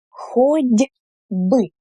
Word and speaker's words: хоть бы: It's хоть бы with a d. Why is it like this? Because before the b sound, which is voiced, that means when you pronounce it and you put your fingers on your throat, you feel the vibration. B, b, b, b. So it's a voiced consonant. And the t here also becomes voiced when it precedes b.